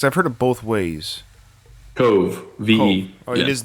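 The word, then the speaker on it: Kove: Now, is it pronounced Cove or Coe? Because I've heard it both ways. Cove, V-E.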